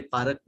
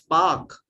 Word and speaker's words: park: honestly I don't like when somebody say parak it's Park it's not parak it's Park so speak Park rest words right we